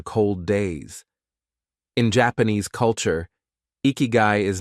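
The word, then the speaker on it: ikigai: In Japan, this powerful idea is called ikiguai, pronounced ikyu.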